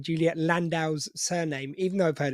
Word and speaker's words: Landau: Juliet landow now welcome to the show Juliet landow is am I pronouncing that correctly yeah that's right awesome good